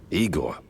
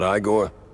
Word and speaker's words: Eigor: Eigor, not Iiggore.